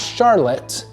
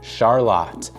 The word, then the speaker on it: Charlotte: So it's not Charlotte because that's when you see like Charlotte, North Carolina, it's spelled exactly like Charlotte. But here in Lancing, we call it Charlotte.